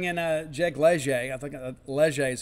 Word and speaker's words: Leger: I think Leger is how we pronounce it where I'm from.